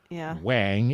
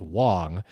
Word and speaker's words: Wang: Um, and also there are many skaters who, for example, um, Luke Wang, who pronounces it Wang instead of what it should be pronounced as, which is Wong.